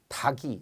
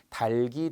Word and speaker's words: 닭이: 이걸 아직도 흙이라고 발음하지 않고 흑이, 닭이 이런 분들이 있어요. 절대 안 돼요. 제가 표준 발음 또 의문의 변형 때 엄청 강조하는 거거든요. 달기, 달글, 달게.